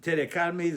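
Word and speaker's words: קדמי: The kadmi, the pronunciation is on the first or syllable before the last, not on the last one.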